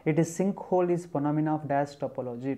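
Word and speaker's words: sinkhole: सो silk होल जो होता है, सिल्क होल ऐसे in case not silk, it इज सिंक, sorry for the pronunciation, it इज सिंक होल इज फोनोमिना of dash topology, topography.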